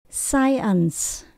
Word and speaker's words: science: số hai là n tượng cùng có c đọc là s science science là khoa học scenario scenario scenario có